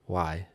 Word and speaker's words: wai: Yes, and way that we use is a Hawaiian word, and it's pronounced Wai, W-A-I, and it means water.